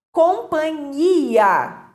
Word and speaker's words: companhia: Companhia, com NH, erradamente pronunciada como companhia, sem o H, né?